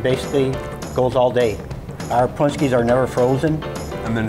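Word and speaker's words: pączki: What is the most common mispronunciation? Potchki. Potchki. People call them potchki. Walt made a special request for us. He says you can pair wine with punchki.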